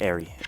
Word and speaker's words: Erie: game we are trying to go to regular Erie the Erie the Aerie excuse me the area mr. critic correct pronunciation are so I'm told by those who